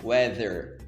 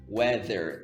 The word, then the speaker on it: weather: Weather, weather. Tenta colocar a ponta da língua entre os dentes.